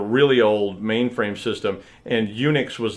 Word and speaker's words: Unix: Wikipedia or whatever relating to how the name UNIX came about and it's pronounced like Eun Eun u CHS like UNIX